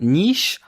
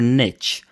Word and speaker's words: niche: many online marketing forums do you pronounce it Niche or Niche the thing is that both are accepted Niche is more of a North American way of saying it and Niche is more of a European way of saying it